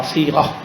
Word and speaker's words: صیغہ: پہلے تو اس کے تلفظ صاد یہ غین اور ہا صیغہ کہتے ہیں.